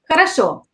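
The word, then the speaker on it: хорошо: it in the comments so it will be karasho so the way it spell it with all uh with or all but the way you say it so it's to be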